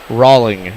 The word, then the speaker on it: Rawling: Rawling is pronounced, as in the baseball.